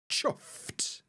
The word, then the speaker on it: chuffed: Chuffed. Chuffed. It's a t sound at the end, chuffed.